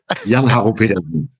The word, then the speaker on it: Jann-Harro Petersen: Germany, and that is Jann-Harro Petersen. Jan, it's wonderful to have you. Please correct my pronunciation if I've got that wrong. No, that's in English. I think it's correct. Jann-Harro Petersen.